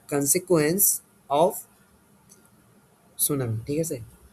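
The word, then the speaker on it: tsunami: এটাকে তোমরা কি উচ্চারণ করো? অবশ্যই এটা হবে সুনামি। টিটা কি থাকবে এখানে? সাইলেন্ট থাকবে।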